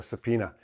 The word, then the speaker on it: subpoena: The B is not pronounced and the O is not really there. So subpoena.